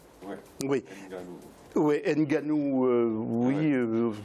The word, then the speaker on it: Nganou: C'est Ganou. Ouais. Oui. Oui, Nganou, il paraît qu'on ne prononce pas le N, mais il faut le prononcer quand même.